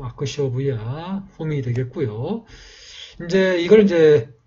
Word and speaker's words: अक्षोभ्य: 그래서 옴 아크쇼부야 훔이 되겠고요.